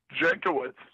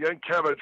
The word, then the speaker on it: Jankiewicz: Jankiewicz, JANKIEWI, C as in cat, Z as in zebra. Yeah. I know some old school, old country guys pronounce it Yankiewicz, but we Americanized it.